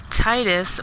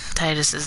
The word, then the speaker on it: Tidus: So, like I said, growing up, I always kind of read it and pronounced it in my head as Tidus, like, and then, like I said, I played Kingdom Hearts and they called him Tidus.